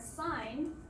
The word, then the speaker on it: sign: And then the second time where it becomes silent is when it comes before a syllable final nasal consonant. So if we see the word sign, we don't pronounce it as sign. However, if we pronounce signature, you can clearly hear the G sound in the middle.